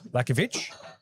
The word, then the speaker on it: Lakovic: Lakovic, we found out is how you pronounce his surname in the hijack.